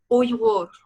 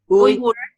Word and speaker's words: Uyghur: Say it how do you pronounce it? Uyghur. Uyghur.